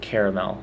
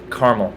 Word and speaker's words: caramel: The word caramel is never to be pronounced caramel unless you're a fancy restaurant and you're describing your desserts, because then you sound really official. It's always just caramel, like the mountain in Israel.